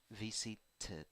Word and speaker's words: visited: Visited, visited, visited, tit, tit. So here the pronunciation is tit, tit at the end. You are pronouncing e and d, right? It. Why? Because the verb finishes in t.